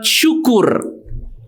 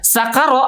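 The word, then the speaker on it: شكر: contoh yang kedua ya contoh yang kedua misalnya ketika kita mengucapkan atau membaca kalimat syukur ya syukur ya itu berubah menjadi sing Ya syukur itu apa Terima kasih ya Syukron Terima kasih kan Tapi kalau shinnya berubah menjadi Sin jadi sacc ya sakara artinya apa Mabuk ya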